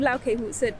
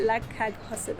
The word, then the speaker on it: Lagkagehuset: In Denmark it's called Laukehuset, but here they changed the name to Ole and Steen because people probably cannot pronounce Laukehuset. They would just call it Lagkaghuset or something like that.